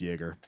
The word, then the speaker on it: Jaeger: Well, because that means it means hunter in German, and it's pronounced Jaeger.